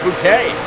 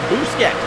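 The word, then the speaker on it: Boosket: I've been pronouncing it Bouquet. That's just what I thought it was. But no, he sent me a message earlier, say, hey Pete, it's pronounced Busquet. B-O-O-S-K-E-T.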